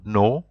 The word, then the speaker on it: nos: son, sa, c'est, notre, nos, votre, vos, leur. So you will see even leur there. It's written, the plural form is with an S, but you see you don't pronounce the S.